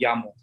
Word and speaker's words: llamo: We have the double L, so we pronounce it as me llamo.